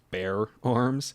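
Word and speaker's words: Bexar Arms: it through this company it's spelled bexar b-e-x-a-r um but it's pronounced bear arms i think i've seen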